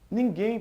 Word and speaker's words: ninguém: Ninguém, pessoal, tem a sílaba tônica na última, ou seja, é uma oxítona e não a paroxítona.